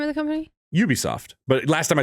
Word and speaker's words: Ubisoft: pronounce it you it's it's pronounced like you as in you be soft but it's it's you're